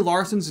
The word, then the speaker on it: Larson: mainly for the fact Brie Larson's name rhymes with arson and I'm sure Ezra